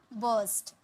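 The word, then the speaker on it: burst: फूट पड़ना यानी कि बर्स्ट, फूट पड़ना बर्स्ट, आर साइलेंट था।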